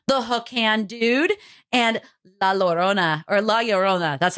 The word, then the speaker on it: La Llorona: as we mentioned, the hook hand dude, and La Llorona.